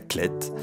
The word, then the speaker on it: Clayette: la khl est oui ça s'écrit clayette mais en prenant cela clette on est en pays